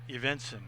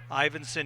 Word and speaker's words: Ivinson: something all year long I've been calling ivinson Genty by eventson I I've been mispronouncing his first name talked to him this morning at breakfast ivinson he goes by Ivy